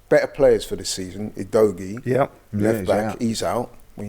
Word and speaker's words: Udogie: Udogi. Destiny Udogi. Destiny. Not Indogi.